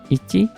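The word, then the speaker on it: いち: Ini dibacanya si satu ini jangan hitot tetapi ichi.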